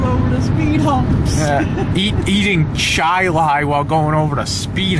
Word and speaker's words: Chili: So, I know it's pronounced chai-lai. Train your chili while going over the speed humps. eating chai-lai while going over the speed humps.